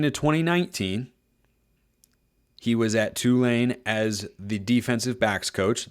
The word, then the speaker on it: Tulane: guy from 2016 to 2019 he was at Tulane as the defensive backs coach that is how you pronounce it by the way gotta have the